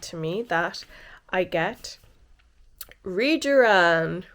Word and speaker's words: Rejuran: So she suggested to me that I get Regeran. Rejan. It's pronounced quite differently in the Korean accent.